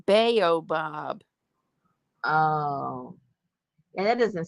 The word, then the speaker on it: baobab: Oh, it's pronounced baobab.